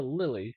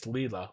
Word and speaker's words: Lilia: if you go to Lily you will find that uh you can actually or sorry uh Lilia uh um or it's Leela Leela is the right way to pronounce that uh Leela uh I